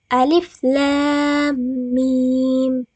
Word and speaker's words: Alif Lam Mim: Akan salah jika kita membacanya dengan begini. Alama, tapi yang benar itu alif lam mim.